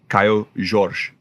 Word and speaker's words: Kaio Jorge: summer um obviously it's kyo georges um i youtubed had the pronunciation of his name and from what i learned it's kaio george oh and that's how you say that so if we want